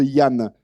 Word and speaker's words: Danh: Alors Yann, alors ça s'écrit D-A-N-H, mais ça se prononce Yann. Oui, c'est la grande question de ma vie, vu que il se trouve que c'est mon prénom et je suis d'origine vietnamienne. Donc en fait, le D en vietnamien, écrit comme ça, se prononce comme le Y.